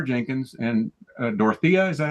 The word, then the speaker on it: Dorothea: Jenkins and Dorothea.